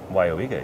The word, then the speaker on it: Weyauwega: Pronounced correctly. Weyauwega? Weyauwega, yes.